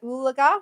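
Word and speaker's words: Oologah: Oolaga?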